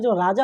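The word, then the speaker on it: czar: सी जेड ए आर सी जिसमें silent हुआ करता था।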